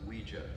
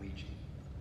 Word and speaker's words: Ouija: Ouija what it's pronounced Ouija not Ouiji it comes from the French and German words for yes we and Y Ouija